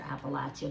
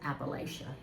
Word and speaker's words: Appalachia: kind of like I've got an apple here and I'm going to throw an apple at you.